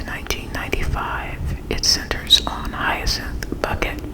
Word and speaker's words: Bucket: By the way, her her name is actually pronounced bucket, but she runs around and always tells people her name is Bouquet because, you know, she's